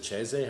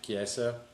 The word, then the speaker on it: Chiesa: Michael is it Cheze? How the hell do you Chiesa. say his name? Chiesa.